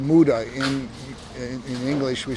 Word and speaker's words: muda: The Japanese use a word called muda. In English, we spell it M-U-D-A, and it's the idea of any sort of waste is not good.